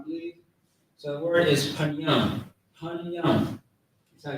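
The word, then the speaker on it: פנים: So the word is panyam, panyam.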